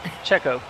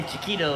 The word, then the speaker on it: Checo: How do you say that? Checo. Checo, yeah. I wanted to say Chiquito or something.